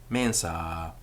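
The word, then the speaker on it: mensā: a mensa to a mensa the ah of the ablative of the first extension is always long tua mensa in some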